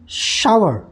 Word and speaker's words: shower: अच्छा, इसका प्रोनाउंसिएशन है शावर, क्या शावर, शावर, ठीक है ना।